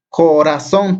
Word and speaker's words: corazón: Corazón tiene 3 sílabas, entonces esta es nuestra última sílaba y se acentúa.